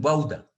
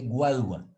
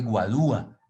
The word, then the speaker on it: guadua: No dice guauda, se dice guadua, y en otro lugar se dice guadúa.